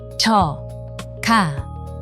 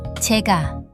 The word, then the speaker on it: 제가: 저, 가, 제가, 나, 가, 내가. Notice something strange? 저, 가 did not become 저가. Instead, it changed into 제가.